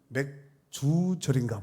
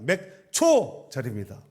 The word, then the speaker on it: 맥추절: 어떤 사람은 맥주절인가 보다. 이렇게 해석하는데 발음 잘하셔야 됩니다. 맥초절입니다.